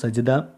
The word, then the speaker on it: സജ്ദ: വിശുദ്ധ ഖുർആനിലെ 32 അധ്യായമാണ് സൂറത്തു സജ്ദ. 21 ജുസ്ഇലാണ് ഈ അധ്യായം ഉൾപ്പെടുന്നത്. 30 ആയത്തുകളാണ് ഇതിൽ അടങ്ങിയിരിക്കുന്നത്. സൂറത്തു സജ്ദ എന്നാണ് ഇതിൻ്റെ ഉച്ചാരണം, ജീമിന് സുക്കൂന്.